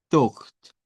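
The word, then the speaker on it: thought: se ve enredada, pero usted solo pronuncia la TH como que fuera interdental. Esta como O corta, la GH no suena y luego suena la T. Entonces dice Tocht, Tocht, Tocht, con T al final.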